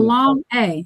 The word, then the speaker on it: Shayna: I just tell people Shayna. long A, just Shayna.